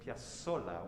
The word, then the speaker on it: Piazzolla: pronounce his name and it's piazzolla with a hard s despite the fact that it's an italian name with a bunch of z's similar to pizza and true argentine will